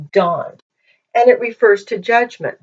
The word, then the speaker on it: Dan: And we would say Dan. When you read the Bible, usually people will say Dan. It's Don.